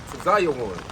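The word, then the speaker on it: ציון: The Hebrew word for Zion is Tzayon. That's the Hebrew pronunciation.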